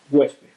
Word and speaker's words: huésped: Por ejemplo, huésped. Huésped es una palabra bisílaba formada por hues y por pez, dos sílabas. Han juntado en la primera sílaba en hues, se ha juntado el sonido vocálico u con la vocal e.